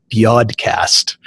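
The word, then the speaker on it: BYODcast: It was originally called Biodcast. Get it? Because it rhymes with podcasts.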